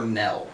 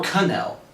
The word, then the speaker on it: knell: Next one is K is for Knell. Okay. Or Knell, if you pronounce it not silently.